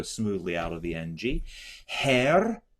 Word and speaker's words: Herr: Herr, and you can roll your R's.